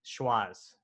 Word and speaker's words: Schwazze: go in there you could and let's let's spell it out for them so they uh so it's s-a-s-s-c-h-w-a-z-z-e schwas that's correct and the name schwarz comes from